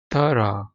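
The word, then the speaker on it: thorough: एक ये है बेथ थरा इसको आपने पढ़ना है थ रा थ रा मेरा नहीं ख्याल आज तक किसी ने इसको ऐसे पढ़ा होगा और यकीनन आप लोग मुझे गलत भी कह रहे होंगे। लेकिन यह ब्रिटिश एक्स में मैं आपको बता रहा हूं। थ रा ऐसे पढ़ना है इसको।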